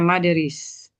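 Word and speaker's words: motherese: Karakteristik chill died speech atau moderis atau cara ber moderis bacanya maderis.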